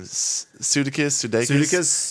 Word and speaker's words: Sudeikis: Sudeikis?